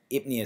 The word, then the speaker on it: pnea: It's spelled this kind of the same way, P-N. You have that P-N there, so it's that odd spelling. So it's actually ipnea, so you might have heard of dyspnea or hyperpnea.